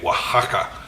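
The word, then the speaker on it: Oaxaca: like that um and it's spelled o a x a CA Waka uh and it's freaking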